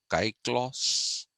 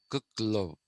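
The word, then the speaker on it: κύκλος: term in greek okay but uh please don't pronounce it as kai claus it's not kyklos it is the root of cycle but the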